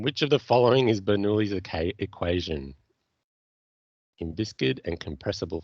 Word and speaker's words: Bernoulli: How do you pronounce it? Bernoulli? Bernoulli.